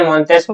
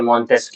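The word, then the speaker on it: Montesquieu: तो फिर वो मुझे प्रोनाउंस करके बता देता है कि अच्छा ये मॉनटेस्ट क्यों नहीं है? ये मॉनटेस्क है।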